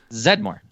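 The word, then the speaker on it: Zeddemore: kept quiet during that what is it zed more no it's not there's an e in there winston zedmore whatever he was in the movie for like five minutes the e is silent sorry guys jeez anyways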